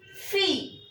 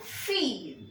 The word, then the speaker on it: fille: Next is set une fille. PS set une fille. This is a girl. FILLE. FELLO. This means girl. Fille. Fille. Double L is not pronounced.